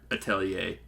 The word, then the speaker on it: Atelier: played many of the Atelier games. Or Atelier. I think is technically how you're supposed to pronounce it.